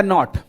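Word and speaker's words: gnat: बट हां यह पूछा हुआ पीवाईक्यू का ही अगर मैं आपसे कहूं the strain एट अ नॉट जी यहां पे साइलेंट रहेगा।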